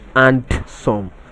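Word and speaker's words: handsome: is longer than us the option c is pronounced as unseen not and some the d in this word is silence not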